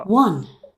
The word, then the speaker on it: one: দেখো ওয়ান শব্দটা উচ্চারণ করতে গেলে ডাব্লিউ চলে আসে প্রথমে, উচ্চারণগুলা দেখো, সাংকেতিক ভাষা দেখো তোমরা, ওয়ান শব্দটা উচ্চারণ করতে গেলে প্রথমে এই যে ডাব্লিউ, সাংকেতিক ভাষা কি লেখা আছে, ডাব্লিউ না? জি স্যার। এই ডাব্লিউটা হচ্ছে ওয়া, এরকম একটা সাউন্ড দেয়।